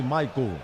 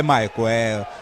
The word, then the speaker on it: Michael: É Michael, fala-se Michael. É Michael, a assessoria passou que a pronúncia correta dele é Michael.